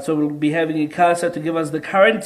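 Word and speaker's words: ICASA: this is a casa a lot of people pronounce it differently i casa de casa right so we'll be having in casa to give us the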